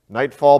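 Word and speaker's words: Knightfall: Nightfall, but it's spelled with a K, K-N-I-G-H-T, fall.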